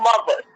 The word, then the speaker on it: muvas: say, they'll say "on mothers." Oh, mother. On mothers, like so on mothers, like MOTHERS, but you spell it MUVAS, so it's like on mothers, and it means like for real, for real.